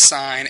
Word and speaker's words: sine: one is the sign function function so it's pronounce sign s NE usually when you see it abbreviated